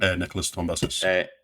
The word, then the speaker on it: Nicholas Tombazis: Nicholas Tombazis. That's the one. I'm glad you pronounced it because I was looking at that before, going, "Who has a name?"